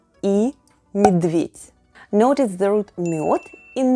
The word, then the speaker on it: медведь: You know makes you STRONG LIKE BEAR 🐻 bear is МЕДВЕДЬ /myedvyet’/ in russian say it with me: НАСТОЙКА /nastoyka/ and МЕДВЕДЬ /myedvyet’/.